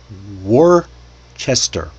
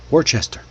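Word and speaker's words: Worcester: Because again, English borrowed the name from a region in England, Warchester. Warchester. Locals were famous in that area, still are, to swallow half the syllables because I guess efficiency or something.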